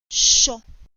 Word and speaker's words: sho: The verb has only one syllable, sho, sho, which means to say or to mean.